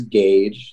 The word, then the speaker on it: Gage: Okay, so again, my name is Gage. That's G-A-G-E, just like a 12 gauge or a tire gauge, just without the U.